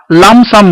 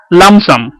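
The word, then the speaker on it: lump sum: এক হচ্ছে এককালীন, যাকে এককালীনে মনে হয় দীর্ঘিকার হয়, যাকে ইংরেজিতে লামসাম বলে। LUMPSUM, এখানে পি এর উচ্চারণ হয় না, লামসাম।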